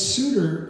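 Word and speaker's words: Seuter: And uh so but Reuben came to the corner of market and I it's spelled s e u t er but it's sudtor and market streets and apparently I mean suitor street there doesn't exist anymore um as I read it.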